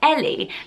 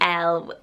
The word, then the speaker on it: Elle: But some people pronounce this, spelt this way, Ellie. Like my friend Ellie here on YouTube, she vlogs at a childminding mummy. She spells like this, but she puts the E hard on the end, so she's Ellie. Whereas to me, Ellie normally has the IE at the end, so I would always pronounce this L. So it should be L.